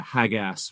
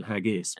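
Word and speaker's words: Haggas: And uh literally haggis like Yeah. spelled with an A rather than an I at the end, but uh yeah, hagas rather than haggis.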